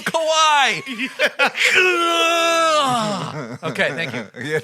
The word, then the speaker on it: Kawhi: There's no other way to say it than Kawhi. It's literally phonetically spelled Kawhi.